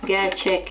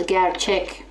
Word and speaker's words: gerçek: However, I've got words like gerçek. When I pronounce gerçek, this ek often sounds like an ik.